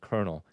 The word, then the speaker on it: colonel: It looks like colonal but it's pronounced colonel.